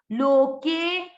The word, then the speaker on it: लोके: अब यहां पर है अवग्रह, तो के को थोड़ा सा दीर्घ करना है, उच्चारण में ज्यादा समय देना है। लोके, लोके।